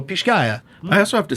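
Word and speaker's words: Pixcaya: guatemala the particular uh let's see if i can say this right it's from uh pisgah guatemala pishkaya uh i don't know how would you say it people it's spelled p-i-x-c-a-y-a so pish-gaya i also have to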